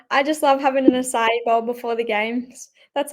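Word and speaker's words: açaí: Acai bowls.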